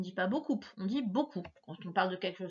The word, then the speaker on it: beaucoup: Ça s'écrit comme ça et on ne prononce pas le P à la fin.